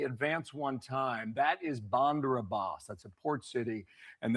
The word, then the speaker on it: Bandar Abbas: Bandar Abbas. There you go. Bandar Abbas. And then the R rules into the A. So, instead of pronouncing it as like two separate words, imagine it's just one word.